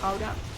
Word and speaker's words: Gouda: As a Dutch person, I am obliged to inform you that it's Gouda, but you know, I also realize that I can't ask people to pronounce it, so Gouda it is.